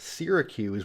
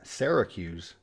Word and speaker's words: Syracuse: a good majority that people get right it's pronounced Syracuse but I think there is a decent number of people that pronounce it Syracuse one of the oldest cities in the U.S